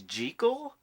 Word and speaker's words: Jekyll: extra pissed off lately you know that the proper pronunciation is gel that's what the author of the novel insisted Robert Lewis Stevenson but only the first